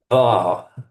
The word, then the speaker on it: dwa: Dwa. Dwa. Dwa, yes. Okay, it's dwa with a dv.